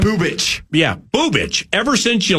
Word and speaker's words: Bubic: Bubich.